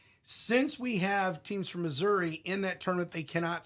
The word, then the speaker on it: Missouri: Since we have teams from Missouri in that tournament, they cannot start until Friday. That's the state. In Misha, that's how you pronounce it over there.